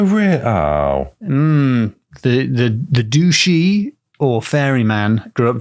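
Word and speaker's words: dubh-sith: would have pronounced it Dove Sith du u b h hyphen s i t h but as far as I can tell you don't pronounce the ends of the words so I think the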